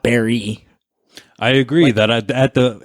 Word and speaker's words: Barre: guys pronounce it and they reassured me that the way to say it is in fact barry what do you think what was yours i forget already i said bear you said bear i